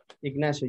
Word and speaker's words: Ignacio: Ignacio.